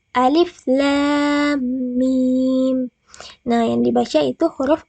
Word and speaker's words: Alif Lam Mim: Akan salah jika kita membacanya dengan begini. Alama, tapi yang benar itu alif lam mim.